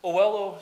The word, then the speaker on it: Oello: Ignore the e to pronounce it o l o. Um, so Oello.